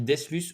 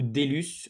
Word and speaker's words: Deslus: C'est un grand plaisir d'être sur le podcast et on dit Deslus, donc la première solution était la Ouais.